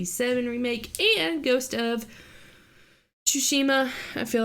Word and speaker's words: Tsushima: remake and ghost of tsushima i feel like i pronounce it differently every time shushima yeah you have to say the sushi part ghost of sushi um